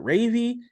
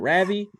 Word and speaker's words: Ravi: because I was like is it ravy is it Ravi it's Ravi yes that's a 13 year